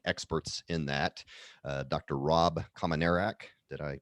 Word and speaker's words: Kominiarek: of the leading experts in that dr rob commonerak did i pronounce that right you got it all right